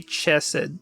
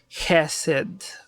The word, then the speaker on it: Hesed: we don't say christ don't say chested so it's hessed with that thing at the back of the mouth anyway now for that